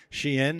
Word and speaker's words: SHEIN: million-dollar question which is how in the world do you pronounce Shen and so here we have it Shen uh we started the